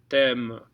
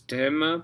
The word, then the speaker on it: t'aime: So TH is te, me, only because we have a note there. So it's tem or tem. Tem or thème. It's thème because we have a note. Otherwise it'd be tem.